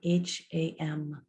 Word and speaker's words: Ham: So on the inhale, you silently say the word Ham, spelled H-A-M, but pronounced Ham in Sanskrit.